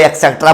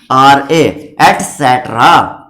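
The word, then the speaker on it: et cetera: लेकिन लिखा कैसे जाता है ईटीसी, ये कोई एक्सेट्रा बोलता है, कुछ बोलता है, लेकिन इसकी स्पेलिंग ये होती है ईटीसीटीआरए, एटसेट्रा।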